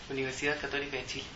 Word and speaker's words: Universidad Católica de Chile: Remind me how you pronounce the name of your university. Universidad Católica de Chile.